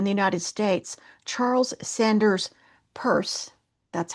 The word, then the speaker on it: Peirce: Almost simultaneously in the United States, Charles Sanders Purse, that's how you pronounce it, was conducting work in pragmatism.